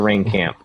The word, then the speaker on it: Rahenkamp: It's Rahenkamp. He says it's the rain camp, but Rahenkamp says, would you rather ride a 26-inch downhill bike or ride a 29-inch hardtail at Whistler?